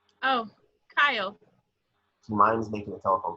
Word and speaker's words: Kyle: Oh, Kyle. She minds making a telephone call. Rhymes with dial.